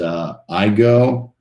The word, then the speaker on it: Igoe: Chris and yes Chris my last name is I go which is spelled Igoe the way you remember that I go you go we all go you will never forget